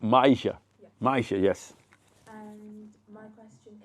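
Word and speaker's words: Myisha: awesome awesome awesome my name how do you spell that m y i s h Maisha Maisha yes and my question is how did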